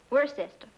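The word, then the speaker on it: Worcester: else too doc but it's spelled w w-o-r-c-e-s-t-e-r we're sister oh yes i see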